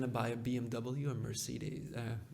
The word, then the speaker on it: Mercedes: buy a BMW or Mercedes? Merc how do you say that? Mercedes. Mercedes. Yeah. It's a little bit different than French. Okay.